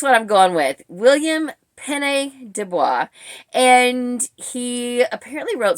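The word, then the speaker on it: Pène: Is it Penny? Well, I may be wrong on both counts. It might be Penny with the accent on the first E, and that makes sense since that's where the accent mark is.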